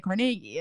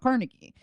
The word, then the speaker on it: Carnegie: All the Love You museums that we have, and explaining them and going through them and explaining to people how you say Carnegie and it's not Carnegie, and all these.